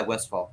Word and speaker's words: Westfall: Is that how you pronounce it? Yeah, Westfall.